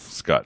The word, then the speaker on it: Scut: people ask: is it Scott or Scut? But it's It's Scut.